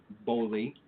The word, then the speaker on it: Boli: Boli, in case anyone wants to know how that's actually pronounced.